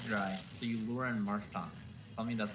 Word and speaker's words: Marshtomp: It's Marshtomp. What else would you say? Marshtomp. Selfie? There's literally no other way to say it.